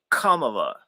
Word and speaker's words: Kamala: And that's that's actually the proper pronunciation. Kamala.